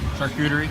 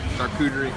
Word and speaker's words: charcuterie: hush puppies were second and how do you pronounce that shark juice charcuterie charcuterie uh but that's saying a lot because this